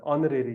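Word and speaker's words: honorary: ठीक है, साउंड है, एच यहाँ पर साइलेंट होता है, ऑनरेरी कहते हैं हम।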